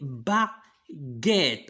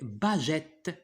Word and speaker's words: baguette: Alors, et là, si on supprime U, ça va se prononcer bagette. D'accord? Alors, pour la prononcer baguette, qu'est-ce qu'on doit utiliser? On doit mettre U.